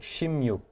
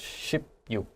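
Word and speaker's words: 십육: But when I heard you say 16, it sounded more like shimyuk, 네, 맞아요. not so much shipyuk.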